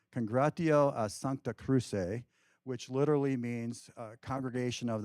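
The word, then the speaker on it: Congregatio a Sancta Cruce: on to be called, and here's my Latin pronunciation, Congratio a Sancta Cruce, which literally means Congregation of the Holy Cross.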